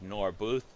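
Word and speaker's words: Gnorbooth: the alley milord said nor booth nor booth that's the G is silent where they Pleasant smile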